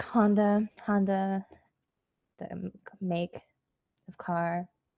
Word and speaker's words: Honda: you're saying that wrong it's not hunt it's honda like you don't have to